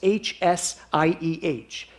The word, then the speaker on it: Hsieh: It was written by a man named Tony Hsieh, but his name is spelled like this, H-S-I-E-H. His parents were Vietnamese. Tony Hsieh.